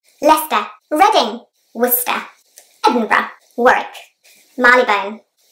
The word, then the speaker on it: Leicester: at the start of this video is Lester it's a very commonly mispronounced case name especially by people who